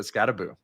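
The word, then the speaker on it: Skattebo: who I default to at all times for pronunciations. Scataboo. He does have it. It's in the background. So Scataboo B.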